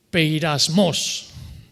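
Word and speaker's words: πειρασμός: Se pronunciaría algo así como peirasmos. Sí, así, más o menos.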